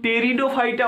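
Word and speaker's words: Pteridophyta: English পড়া তো আমি সেদিন ছেড়ে দিয়েছিলাম যেদিন আমি প্রথম টেরিডোফাইটা বানানটা লিখতে গিয়ে টি লিখেছিলাম।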